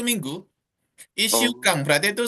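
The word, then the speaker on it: 一週間: Berarti tetap Ichi ya sih saya bacanya. Ichi Sukang gitu ya. Tojinya hilang. Jadi S, double S. Kan setelah Ichi itu kan Shu ya. Berarti kan hurufnya kan S ya. Berarti ikut yang S-nya.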